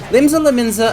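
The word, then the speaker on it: Limsa Lominsa: With Limsa Laminzi is pirate... I said it again. I gotta correct that, or I'm gonna say it like that for the rest of the time. Limsa Laminza has piracy and lawlessness,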